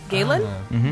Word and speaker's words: Galen: Galen? Rhymes with Jalen.